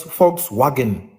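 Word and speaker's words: Volkswagen: People could say the same argument for for for the Holocaust because a lot of companies Adidas uh Fox Fox wagon that's how they pronounce it VW that that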